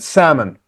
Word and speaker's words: salmon: L is silent, salmon.